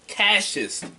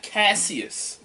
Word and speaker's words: Cassius: that Cassie's he's like no no my name is Cassius not Casius pronounce my name right